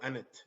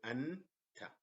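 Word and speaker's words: أنت: So we hit the break. And we don't go anet. Say anta.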